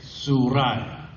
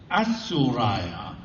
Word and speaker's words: Suraya: In other words, we don't pronounce it. We just say Suraya or Suryaya. But if we didn't silence the letter, we would be saying Asuraya or Asuryaya.